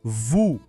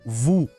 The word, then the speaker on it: vous: Depois, vous, onde o O tem som de U e o S não se fala. Então, vous. E plaît, que soa como plé, com o E aberto e o T mudo.